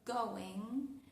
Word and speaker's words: going: En realidad ahí no hay un fonema ga, aunque tenemos la g escrita. ¿Por qué? Porque hay un fonema especial, específico para esos casos, que es el fonema m es going. Going no es going.